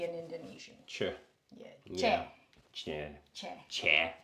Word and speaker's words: C: Che. Che. Che. Che. It's like CHA, maybe.